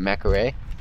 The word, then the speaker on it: McCree: Alright, when a guy from China tries to say McCree, he pronounces it Macaray. Ah, man. I mean, I call it McCree because it just sounds so much easier to say than Macaray. And I feel like Macaray is wrong. But that's just the way I'm pronouncing it.